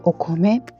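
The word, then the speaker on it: お米: L'ideogramma di riso kanji è questo, e si legge okome. Si legge come, ma attacchiamo o, perché per noi è un mitico, no? Quindi okome.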